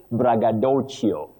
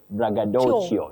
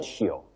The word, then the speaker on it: braggadocio: which is from Italian now you say bragadoio bragadoio not chioadio how you end it I